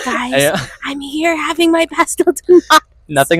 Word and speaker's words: Pastel de nata: Pastel de nata. Oh my gosh. Got it? The pronunciation.